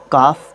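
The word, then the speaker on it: calf: जैसे कि काफ है, काफ, सबसे पहली बात तो इसको काल्फ प्रोनाउंस नहीं करते हैं, काफ प्रोनाउंस करते हैं, और हम इस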